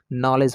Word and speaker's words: know: उस तरह से KNOW, नो मीन्स जानना होता है, तो यहाँ पर के साइलेंट रहेगा, तो इसको नो पढ़ेंगे।